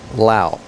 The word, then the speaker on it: Lau: Rebecca Lau. It's not Rebecca Lowe like it's spelled.